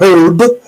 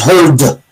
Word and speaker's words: herd: I mispronounced the word, it's not herb, it's herd. It's herd behavior.